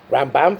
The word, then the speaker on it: Rambam: for not money so put an emphasis on the first syllable for Rambam for Maimonides and evidence on the